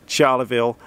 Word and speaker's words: Charleville: want to sound wrong on this channel Longreach Charla Vil then we're heading down to Berk I'm gonna